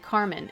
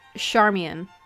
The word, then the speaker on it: Charmian: Is your name pronounced like Carmen? It's Charmian.